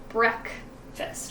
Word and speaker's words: breakfast: This one's a tricky one because it looks like the word break, which actually has a long A sound, but it actually is pronounced breakfast, right? Short E sound.